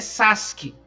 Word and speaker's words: Sasuke: sabe muito bem que o U nessa situação é mudo, então é Sasuke, né? Escreveu lá com U, mas o U não é igual a Akatsuki, né? Tá escrito Akatsuki, tá escrito S-U, mas a gente fala Akatsuki, né?